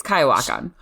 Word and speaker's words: Coyoacán: Is that how you say it, Sarah? I don't know. Even when we went to that area, no one knew how to pronounce it. It's Coyoacán.